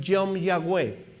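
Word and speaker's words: יום יהוה: Mira, es una expresión en hebreo que tiene más o menos así la pronunciación, Yom Yahweh.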